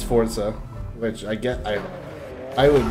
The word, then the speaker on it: Forza: Also, is this Forza? I heard it's pronounced Forza, like Italian, instead of Forza.